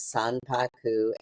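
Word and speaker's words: sanpaku: were the term is Saku sa they weren't real Saku I'll spell that s a n p a KU which means that your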